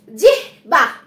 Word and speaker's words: জিহ্বা: Next দেখো জিহ বা, জিহ বা, তো দেখো জয়র শিকারে জি হয় বয় আকার, জিহ বা এরকম ভাবে উচ্চারণটা আমাদের করতে হবে, দেখো বানানটা লিখছি জয় রশিকারে জি হয় ব যুক্ত জিভ বা।